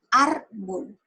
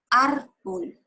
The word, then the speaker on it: árbol: vamos a hacer otro árbol tiene dos sílabas árbol hago más fuerza en la última sílaba no porque si fuera en la última sería árbol y yo digo ese árbol es en la última no en la penúltima cuando tiene el mayor